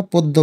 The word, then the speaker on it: পদ্ম: কিন্তু দ আসলো, এখানে যে ম আছে মর উচ্চারণটা কিন্তু আমরা বাংলায় করি না, পদ্ম বলি।